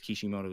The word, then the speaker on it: Kishimoto: versus Naruto and Keisha I think it's kishimoto is how you say it said that moderate like